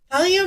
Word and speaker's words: thallium: I do not like the fact that she used thallium. Me either. Seriously? Thallium is so 1900s.